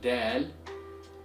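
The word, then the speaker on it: دال: So in here, we need to know how to pronounce both Dal and Daad properly, because as you saw, one letter changes the entire meaning of the word. So one more time, it's Dal, Daad, Dal, Daad, Dal, Daad, Dal, Daad,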